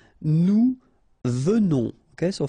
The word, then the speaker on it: venons: Nous venons. Okay, so final S not pronounced, and then remember that you pronounce this like a the, venons. Okay, O-N in your nose, on, venons. Nous venons.